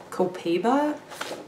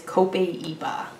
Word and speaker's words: copaiba: I called it coal coal pebe Cohiba that's what I called it like that cigars but it is copaiba this one doesn't have